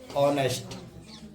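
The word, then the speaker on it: honest: क्या होगा, स्वर होगा, तो फिर एच क्या रहेगा तुम्हारा, साइलेंट रहेगा। ठीक है, एग्जांपल देखिए, आवर, ईयर, है ना, ऑनर, ऑनेस्ट।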